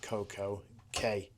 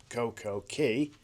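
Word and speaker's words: CocoCay: Now, I think it should be pronounced Coco Key because that's how it is pronounced. The K is a K, but Royal Caribbean Caribbean, I've pronounced it K to match with day.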